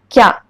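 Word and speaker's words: きゃ: Ki plus small ya is kya. This ki plus ya, kya is 2 syllables. But when you put small ya, that is 1 syllable.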